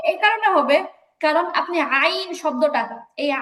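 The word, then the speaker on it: عين: আইন আপনি যদি বানান করে লিখতে যান, সহজ কথা, এই যে আইনের যে উচ্চারণটা, এটা যদি আপনি বানান করে লিখতে যান, আপনাকে লিখতে হবে আইন ইয়া নুন, আইন ইয়া নুন। এই আইন শব্দটা, আইন হরফটা বানান করে লিখতে গেলে আইন ইয়া নুন নুন ব্যবহার আছে। করতে, তাহলে সহজ কথা হচ্ছে আইন বললে একটা নুনের উচ্চারণ আছে, আর যেহেতু যেহেতু নুনের উচ্চারণ মাঝখানে আসতেছে, এই জন্য এখানে মতো গুণাটা হবে, এছাড়া আর কিছুই না।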